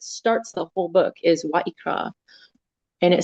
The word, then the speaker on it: Vayikra: There's a va followed by the yod, which kind of Vayikra is how it's pronounced. It could be Vayikra or Vayikra. But anyway, that's what it's pronounced like. Vayikra is Leviticus.